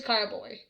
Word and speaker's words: carboy: And it is carboy. I was pronouncing it correctly. Yay me! Carboy! C-A-R-B-O-Y.